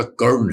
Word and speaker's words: कर्ण: अभी आपने कर्ण, हम कर्ण बोलते हैं, कर्ण है ना वो, कर्ण है वो, ठीक है। सो माइंड यू, उच्चारण उसका कर्ण है, कर्ण, ठीक है, कर्ण नहीं है, बट ठीक है, लोग बोलते हैं।